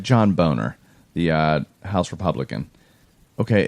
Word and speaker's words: Boehner: pronounced so like John Boehner the House Republican okay it's not Boehner there's a freaking oh in your name it's a boner your name is Boehner